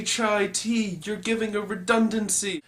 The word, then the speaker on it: chai: The word chai, or as it's properly pronounced, kai, has been used in African, European, and Asian countries for the word tea.